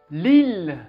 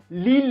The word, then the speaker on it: Lille: dixième ville la plus peuplée de france fait lille pas lille et nantes lille lille c'est une ville située